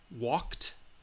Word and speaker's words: walked: regular verbs we have the voiceless which is the T sound all right helped walked laughed kissed all right if the